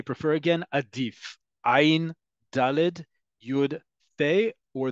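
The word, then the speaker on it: עדיף: Adif.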